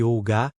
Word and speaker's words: hygge: Na Dinamarca, por exemplo, o conceito de hygge, pronúncia-se Olga, é muito valorizado.